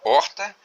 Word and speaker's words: horta: Porque, conforme dito, a letra H no início de uma palavra não é pronunciado. Não sendo pronunciado, não é contado como fonema. Então, nesse caso, na palavra horta, que é escrito, que